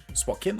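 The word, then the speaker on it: Spokane: anglais si m qui parle anglais aussi spoken spoken ou spanlais pas problème n dit ville spokan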